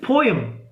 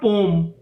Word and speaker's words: poem: को लेकर के कि इट इज पोएम, इट इज नॉट पोम, but American pronunciation is पोम.